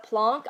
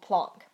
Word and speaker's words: Planck: call this plank or some people call it plunk I was just taught that it's pronounced plunk I don't know if that is